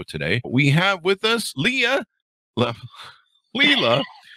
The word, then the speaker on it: Laila: We have with us Laila. Laila. Did I get that right? Laila. Just ignore the A. Did I get that all right? Laila. Laila.